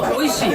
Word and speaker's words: Oishii: Oishi.